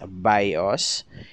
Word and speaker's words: BIOS: for basic input output system the bios or pronounced as bios is a rom chip found on motherboards that